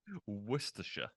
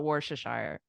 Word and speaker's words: Worcestershire: didn't know it um Worcestershire was I close Worcestershire oh yeah Worcestershire Worcestershire yes okay I'm still gonna call it worshiper that's what I've been saying my whole life okay cool um let's